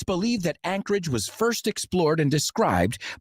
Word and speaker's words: Anchorage: El nombre Anchorage, pronunciado Anchorage, significa ancladero, y es porque el puerto de